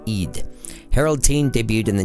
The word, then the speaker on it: Ed: His name is pronounced Eid.